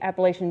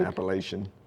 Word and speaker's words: Appalachian: What some of you may know and may not know is that the Appalachian Trail actually comes through Graham County.